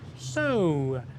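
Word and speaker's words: Saut: excuse my French uh it is pronounced so so and so the teapot uh is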